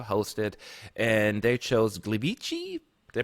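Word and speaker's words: Gliwice: they get to host it and they chose Glee beachy they pronounce it Poland to be the host city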